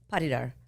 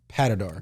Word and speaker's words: Patidar: But we have with us Amanda Abiassi, if I pronounced that correctly. Yes, sir. I'm so proud of you. Yeah. And Patidar. Patidar. Is that correct? She says it fancy. It's Patidar. Patidar.